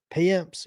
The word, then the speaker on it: Payamps: Payamps. Payamps.